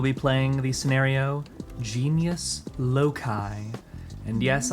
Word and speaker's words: loci: And yes, I am going to be using the what I believe to be proper British pronunciation of loci, because it's the plural of locus. And I think calling it loci is dumb, Americans.